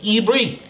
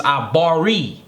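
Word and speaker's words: עברי: Y'all hear it all the time, how they say it, Ibri. Well, it's Abari.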